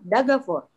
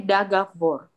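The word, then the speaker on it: договор: Yang benar adalah dagavor. Yang ini yang benar. Ini salah nih. Ini salah, coret aja, coret. Dagavor. Jadi penekanannya di akhir. O di sini jadi apa? Karena tanpa penekanan jadinya A. Yang di sini jadinya A. Jadi dagavor. Gitu.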